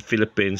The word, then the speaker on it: Philippines: Philip and Philippines sounds like F, as in Felipe, F.